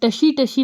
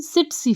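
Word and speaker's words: tsetse: अब टशी फ्लाई भी इसको बोल सकते हो, अदरवाइज इसकी प्रोनाउंसिएशन सिट्सी फ्लाई है, सिट्सी फ्लाई।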